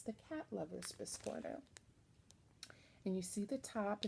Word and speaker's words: biscornu: trouble with her biscornu, or as Garrett said, the local needle workshop taught him, biscornu. So I'm going to try to pronounce it properly, biscornu.